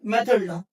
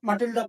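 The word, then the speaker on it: Mathilde: Madam मेथड। मेथड हां मैथडा इसको कुछ लोग मट्डा प्रोनाउंस करते हैं मगर प्रोनाउंसिएशन इसका आएगा मैथडा Louis she is beautiful woman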